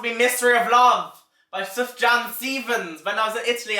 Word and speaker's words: Sufjan Stevens: And my number 1 would have to be Mystery of Love by Sufjan Stevens.